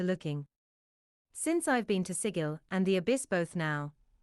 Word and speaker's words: Sigil: How did I get to Sigil? No, you say it like giggle.